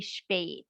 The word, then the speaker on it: spät: So for example, you would get a short E for the Becker A, But for the word late, S-P-A umlaut T, that would be spät.